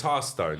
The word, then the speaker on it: Hearthstone: got an E in it, you're correct, but it's Hearthstone. Yeah, Hearthstone. it's like you sit by the hearth. It's the stone within the hearth.